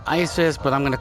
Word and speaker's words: Isis: Yeah, the kingdom is basically pronounced Isis, but I'm going to call it the Oasis Kingdom.